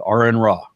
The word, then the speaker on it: Aron Ra: to that so as my name is Aaron pronounced such I said are in raw okay and I didn't